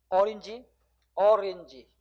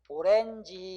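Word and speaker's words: orange: 또 ORRANG 실제 발음은 어린지, 그죠? 어린지. 근데 우리는 이거 뭐라고 그래? 그냥 오렌지 이렇게.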